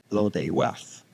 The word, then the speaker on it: Blodeuwedd: Welsh pronunciation. Julian, come on. Blodeuwedd.